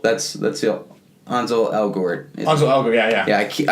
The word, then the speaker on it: Ansel: Ansel, not Hansel. That's the Ansel Elgort.